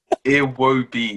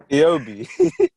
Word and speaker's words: Iwobi: no, Iwobi. it's not hard to say. Iobi. No, Wait, no, you that's say fake, the that's what fake, that's fake, sound?